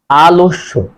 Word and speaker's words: আলস্য: বর্ণের সাথে আছে জফলা, সে কারণেই মাঝের যে অযুক্ত ব্যঞ্জন বর্ণ তার সাথে ওকার হবে, তাহলে আলস্য।